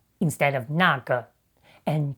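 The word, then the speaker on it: 那个: You might have noticed that Deng Chao says 那个 instead of 那个 and 这个 instead of 这个. That's simply a common northern pronunciation in China you often hear in everyday conversation.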